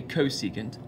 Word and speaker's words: cosecant: so the three are cosecant of our reference angle which we abbreviate CSC but still say cosecant this is the reciprocal